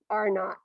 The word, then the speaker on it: R0: Okay, so you pronounce that little zero as not, R0.